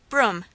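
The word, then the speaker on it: Brougham: Broom, pronounced the teacher, and I began mentally.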